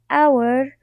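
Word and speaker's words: hour: of course you know our uh starts with an h but this h is silent so actually it starts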